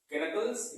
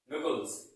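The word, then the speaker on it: knuckles: क्या पढ़ेंगे, केनकल्स या नकल्स, क्या पढ़ेंगे इसको हम, इसको पढ़ेंगे नकल, नकल, क्या पढ़ेंगे, नकल। केनकल्स नहीं पढ़ेंगे, ये गलत प्रोनाउंसिएशन है। सही इसका प्रोनाउंसिएशन क्या है, नकल्स।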